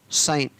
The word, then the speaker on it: sign: साइन। अंत में क्या है? GN, और यहाँ पर जी को नहीं पढ़ा गया, तो SI का साई और N का न, शाइन।